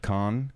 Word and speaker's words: Cannes: Grand Depart, which is the first three, like Lille, and it's not Cannes, but Cannes.